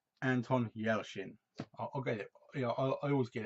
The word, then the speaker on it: Anton Yelchin: highly highly recommend and he's very good it's pronounced Anton Yelchin okay yeah I always get it wrong and